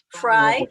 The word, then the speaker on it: Frey: is it Frey? Or how do you pronounce it? Fry? French fry. Like French fry, love it.